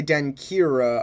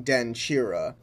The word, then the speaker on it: Denkyira: being pronounced like ki the combination of k and y actually make a chi sound so when i say den kira i should have been saying den chira and i should have